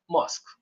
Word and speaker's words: mosque: I know the spelling has ue at the end of it, but the More, pronunciation is mosque, simply yes.